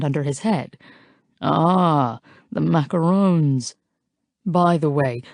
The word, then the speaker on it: macarons: his head ah the macaroons by the way kudos for not pronouncing it as if it rhymes with raccoons since it doesn't I laugh and now